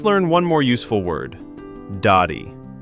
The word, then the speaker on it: dari: Dari. Dari.